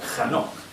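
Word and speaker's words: חנוך: Enoc en hebreo se escribe con K, J, este es el inicio, KJ, Anok, o sea, Hanok.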